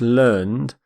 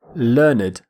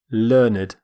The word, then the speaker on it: learned: an adjective we say learned learned we actually pronounce the e d ending completely which is quite unusual in english learned a learned person